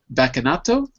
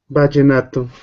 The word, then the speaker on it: Vallenato: So the first one was called Bacanato? Vallenato. Uh-huh. Like Bacanato, like that? Did I spell it right? I write it in the chat. Ah. Oh, I heard B. It's V.